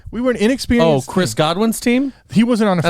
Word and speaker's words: Godwin: __ ] player and chris godwin goodwin i'll let you say his name wrong because you're a [